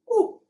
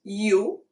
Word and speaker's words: u: U is oo. It's not you. It's oo.